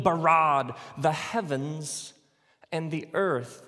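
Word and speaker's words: בָּרָא: now the word for create is the word bara let me hear you say bra with this forceful energetic word of making things out of nothing in the beginning Elohim barad the heavens and the earth now the earth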